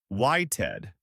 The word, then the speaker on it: waited: In waited, the verb wait ends in a T sound, so we again add that ID syllable. Waited.